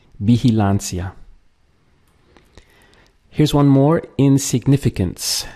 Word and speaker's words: vigilancia: Vigilancia. Notice here how the V, the combination of VI, is pronounced as like a B in Spanish.